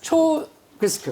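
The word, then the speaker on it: Teagasc: 그래서 오늘 세션에 참석하는 분이 초그스크, right? 초그스크. 이 발음만 제대로 알아도 굉장히 중요한데 이것이 왜 중요하냐?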